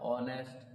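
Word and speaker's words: honest: बोल के देखो जरा ऑनेस्ट कहां से कहां तक इसको हा नहीं बोलेंगे क्या बोलेंगे एक साइलेंट इसम क्या बोलेंगे ऑनेस्ट तो क्या लगाएंगे एंड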